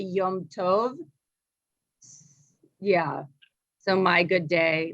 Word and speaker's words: Yom Tov: like that and it wouldn't be like yomitovi it wouldn't be that either yeah so yeah i'll have to ask i don't really know how you'd technically do it but you wouldn't say it like that you'd say like yeah my holiday um because actually means holiday like yum is actually yom tov yeah so my good